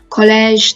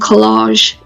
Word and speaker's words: collège: So as you can see here, we've got dans, so the silent S, collège, the air sound, une piscine.